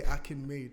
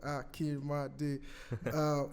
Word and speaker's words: Akinmade: Because people would say Akinmade, and I'm like, nah, it's not 3 syllables, it's 4. It's like Akinmade.